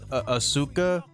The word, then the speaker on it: Asuka: see auka from or I think her you pronounced it uh Asuka but yeah Asuka from evangelia it's like I